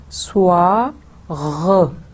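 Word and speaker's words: bonsoir: Break کرتے رہتے ہیں بون سوار. تو جو ایس او آئی آر کی ہے وہ سوا غ, پھر غ غین کی آواز نکلے گی.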